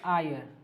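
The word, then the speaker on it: heir: एच देख रहे हो, ये साइलेंट होती है, इसलिए इसको बोला जाता है आयर।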